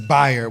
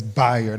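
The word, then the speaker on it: Bayard: It is buyer. When you think about his name, think bisexual. It's not bae, even though it's spelled that way. It's Bired. Everybody say Bard.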